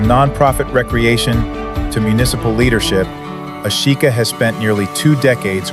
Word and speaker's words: Ashika: And she just told me how to pronounce her name. Is it It's not Ashika. That's the wrong way to say it. Yes. How do you pronounce it? Ashika.